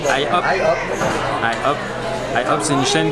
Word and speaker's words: IHOP: Il y a un I, donc on dirait IHOP.